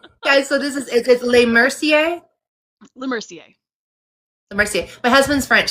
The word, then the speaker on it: LeMercier: LeMercier? LeMercier. LeMercier. My husband's French, so I was like I was hoping I wasn't totally butchering it. So No, you're good. I've gotten like LeMercer, Matt Mercer, all sorts of things.